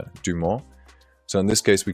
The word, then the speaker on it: Dumont: And in English AI would pronounce it Dumont, but it should be pronounced Dumont.